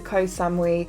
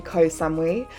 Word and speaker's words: Ko Samui: and then fly to Koh Samui I've always said Koh Samui and I found out recently that it's not actually how you say it and it's actually Ko Samui um we're gonna straight